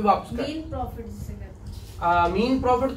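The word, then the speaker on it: mesne: अगर wrongful possession होगी तो वो मीन प्रॉफिट होगा या मीसनी प्रॉफिट, ठीक है। मैसने होता है ना, एस साइलेंट है तो मीन कहते हैं ना।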